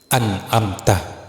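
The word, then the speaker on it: أنعمت: Ketentuan mutlak dalam melafalkan kata anamta adalah wajib membunyikan harakat fathah atau vokal ah pada huruf ta di bagian akhir kata.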